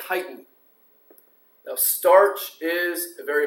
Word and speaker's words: chitin: And those four are starch, glycogen, cellulose, and this is a hard one to pronounce. It's called chitin.